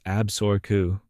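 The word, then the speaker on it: Absaroka: creating a new state called Absuroka, pronounced Absoru, named after the Crow Nation's own name for themselves.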